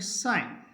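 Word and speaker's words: sign: साइलेंट कहां रहेगा जी जी के बाद यदि एन हो तो जी साइलेंट होगा एस आई जी एन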